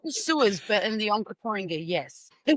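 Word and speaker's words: Onkaparinga: had cuz that was Anker Porringer? Yeah, well, it's a big word. Like I failed tape, remember? I had to almost clap the syllables in my head. Okaparinga.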